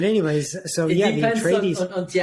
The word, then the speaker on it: Atreides: Is that how you say it, Atreides, right?